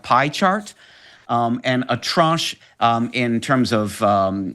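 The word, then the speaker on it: tranche: Um, and the word is trunch. And that's an interesting u pronunciation. We only give the one with with that nasalized vowel, that French sounding vowel.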